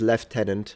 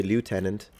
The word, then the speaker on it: lieutenant: Oh yeah, and the other one is left tenant. That some people say lieutenant. I usually say left tenant, but lieutenant objectively makes more sense because of the way it's written.